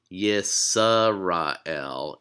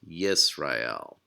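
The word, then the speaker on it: ישראל: so in this case the schwa is showing you where the syllable ends so it's yees rah hail so again the schwa just marks the end of a syllable another thing the cylon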